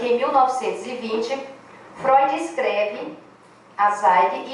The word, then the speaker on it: Zweig: Como chave do caráter misterioso de Dostoiévski, é Zweig que pronuncia, alguém sabe alemão aí? Sim. Zweig, né? Escreve Z-W-E-I-G.